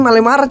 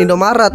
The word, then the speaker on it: Malai Maret: Oke, ini bacanya Malai Maret ya, guys, bukan Indomaret. Kalian salah baca.